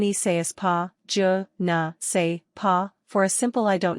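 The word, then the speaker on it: je ne sais quoi: To pronounce the j like shu, shape your mouth like you are beginning to shush someone, but carry on the sh sound by following with a sound almost halfway between and oo. This should sound something like eu.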